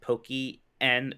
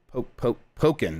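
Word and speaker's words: Pokkén: says in chat that it's pronounced pokey n tournament and i just refused jeff okay okay in pokken no it's pokemon it's a pocket tournament and i will yeah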